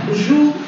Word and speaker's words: joue: Joue, attention, c'est le verbe jouer, c'est l'action de jouer. Et là, il y a un E qui est muet.